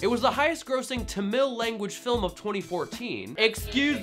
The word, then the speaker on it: Tamil: was the highest grossing Tamil language film of 2014 excuse me I'm pretty sure it's pronounced tamel so why are we